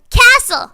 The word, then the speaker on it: castle: I'm like huh there are other silentes but I couldn't come up with any at the moment so like a week later cuz that's when I replay arguments in my mind a week later I was like thistle listen ha right Castle right right right right